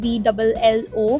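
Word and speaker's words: VLLO: i pronounce it vzo it's actally vlo i started editing in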